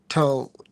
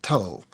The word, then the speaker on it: Tal: First off, the actual first thing is Tal, who you're saying for Tal. She told me the correct pronunciation of her name is Tull, like Jethro Tull.